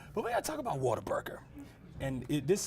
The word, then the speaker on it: Whataburger: was Whataburger just what what a burger and technically that's what it is a water water Whataburger that's just how you say it that's how it comes